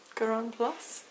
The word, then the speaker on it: Grand Place: that I was at what they call a grand place they're Goron plus because other pronounce it in French something like that which again was the